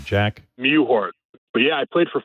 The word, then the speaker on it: Mewhort: Mewhort.